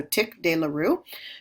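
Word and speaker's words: tic douloureux: Trigeminal neuralgia, it's also called tick dearoo. Uh that's a term that's often mispronounced. So tick dearoo.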